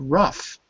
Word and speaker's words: rough: you have the word rough r o u g there it sounds like an F so if you want